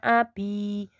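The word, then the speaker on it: أَبِي: Hwa Abby gua Abby ini bacanya Hwa ini bacanya Abby Nahwa artinya dia tulis disini dia Abby artinya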